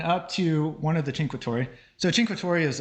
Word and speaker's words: Cinque: So our first destination was Cinque, and it took me a long time to figure out how to pronounce that, because it has an H sound in it, but there is no H in the word, so imagine that. So this is walking up